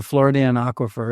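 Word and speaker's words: Floridan Aquifer: The Floridian aquifer is how they pronounce it, and the freshwater springs in our state.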